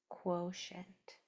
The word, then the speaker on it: quotient: If you hear sh toward the end of a multi-cllable word and there's a vowel after it, spell it with a ti. Quotient.